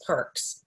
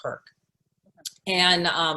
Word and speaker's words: Perk: say perk a so we asked people to pronounce it as one word so the idea with